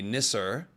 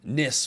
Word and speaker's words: nisser: making the ah sound so plural form would be nisser uh um nists would be incorrect so there you go